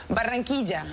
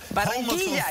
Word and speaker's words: Barranquilla: Barranquilla. Barranquilla. Well, hold on, you can roll it. Barranquilla. Barranquilla, Colombia. Barranquilla, you nailed it.